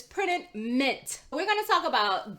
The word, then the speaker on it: Printed Mint: talk about printed mint i know a lot of times when i say printed mint you guys think i'm saying mink because of how i pronounce that tea but it's printed mint we're going to talk